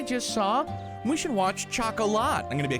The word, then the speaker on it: Chocolat: I've never watched Chocolate, and I know it's pronounced Chocolat, but it's just not my cup of tea.